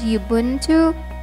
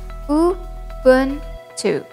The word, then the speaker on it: Ubuntu: And although we can be prone to pronouncing this as Ubuntu or Ubuntu, its pronunciation is as straightforward as how it's spelled. Ubuntu.